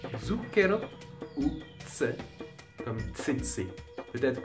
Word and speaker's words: zucchero: En début d'un mot, c'est Z, comme dans zucchero, ou tse, comme tsetse.